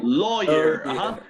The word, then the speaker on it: lawyer: Lawyer. Abogado sería lawyer. No lawyer, no lawyer, lawyer. No suena U para nada, ¿no?